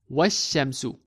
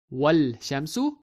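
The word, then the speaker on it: والشمس: So we read it as wash-shamsu, not wal-shamsu, but wash-shamsu.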